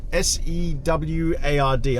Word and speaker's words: Seward: So what we're going to do today is go to Seward, S-E-W-A-R-D.